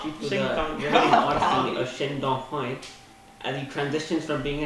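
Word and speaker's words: Shin Dong-hyuk: Shin Dong Hoi.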